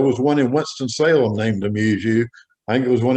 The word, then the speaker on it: Amuzu: We pronounced it Amuzu, from amuse and you, AMU, like AMUSE and YOU.